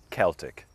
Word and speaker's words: Celtic: Well, in Ireland, typically we say Celtic with a K sound. We do say Celtic sometimes, like for the Glasgow Celtic soccer team or the Boston Celtics.